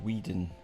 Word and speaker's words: Whedon: Would not help you if I write that it's pronounced Whedon, will I?